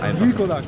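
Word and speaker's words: Wilkołak: Wilkolak. Wilkolak wird so ausgesprochen.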